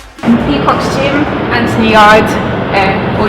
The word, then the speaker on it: Yarde: quiff thing on it but it's Anthony yard silent E who's your coach and